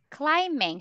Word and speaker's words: climbing: I go Mountain clamping climbing silent b or remember we don't pronounce letter B climbing not climbing okay